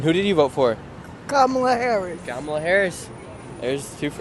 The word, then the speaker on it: Kamala: Just saying, it's Kamala. And people say, oh, Kamala? No. Why don't you think it is spelled Kumala if it is Kamala? It isn't. Kamala. It's Kamala. But wouldn't that be like, it's the No, Kamala? no, that's English. It's an Indian name.